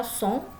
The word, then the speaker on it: son: Oke, song ya, dibaca song, sesong butong ya.